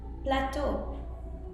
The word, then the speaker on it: plateau: Now EAU, O means water, but you will also find it in other words like plateau, which is another expression used in American English, and plateau can mean several things.